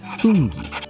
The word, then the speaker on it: funghi: It's the exact same with funghi and ghiaccio. That little H makes all the difference in the world.